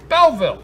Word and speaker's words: Belleville: Belleville. Two Belleville.